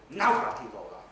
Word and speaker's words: Navratilova: We all know the tennis player, or you should do, Martina Navratilova. Yes? Her name is not pronounced like that at all. It's Navratilova. Okay? With a stress on the first syllable.